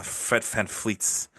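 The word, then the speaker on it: Fred VanVleet: cut back on uh FedFan fleets. I say it like that because it's it's a Dutch thing, right?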